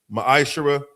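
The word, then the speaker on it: מעשר: tithe which is a commandment book of numbers chapter 18 verse 21 book of Malachi chapter 3 8-10 means 10 in the Hebrew is pronounced maishara 10% of every penny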